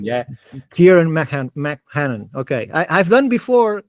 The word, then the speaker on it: Ciarán McMahon: Today we have Ciarán McMahon. No, I've said it wrong again, but it's close enough. It's one of those brilliant Irish names. Is that it? Yeah. Ciarán McMahon. Yeah. Ciarán McMahon.